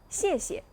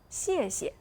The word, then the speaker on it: 谢谢: Attention à la prononciation de ce mot, il faudrait prononcer doucement le deuxième caractère. Merci, 谢谢. Peut-être certains amis n'arrivent pas à bien maîtriser la prononciation de la consonne initiale X. X doit se lire S, pas X.